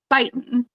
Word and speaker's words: Beighton: one person the Bens it's byen like take a bite out of crime it rhymes with Brighton as in the old